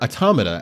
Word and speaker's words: Automata: And you know, it's kind of funny to hear that NieR Automata, or Automata, as I've been told it is pronounced, version 1.1a, episode 9 has been delayed.